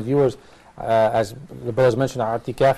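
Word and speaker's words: اعتكاف: And I want to remind the viewers, as the brothers mentioned, i'tikaf is pronounced with the ayn.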